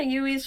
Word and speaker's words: Ywy: wait um yeah ui's just sort of sitting and oh her her uh ui's name is spelled ywy just so you know yeah UI uh this is